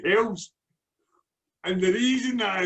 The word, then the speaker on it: Helles: I thought it was always Helles. That's my lazy, nondescript pronunciation. Bruce, is it Hells or Helles? Hells.